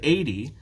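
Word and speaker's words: eighty: the stress is different we have 18 normally when we speak the stress is on the second syllable 18 and when we have 80 the stress is on the first syllable so when you are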